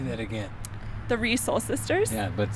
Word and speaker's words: Resoul: Not as in the sole on Not your as foot, in the shoe.